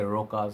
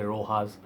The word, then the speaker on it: Rochas: house some people say Rochas some people say Rocha some people say Rojas so I am gonna call this Rojas man raucous man okay